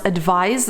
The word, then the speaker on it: advise: Notice how you pronounce advise with a Z sound and advice with a S sound.